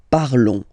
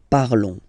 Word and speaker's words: parlons: Remember, final s is not pronounced, okay? And then this on together, they will give you the sound on, okay? Nous parlons, nous parlons.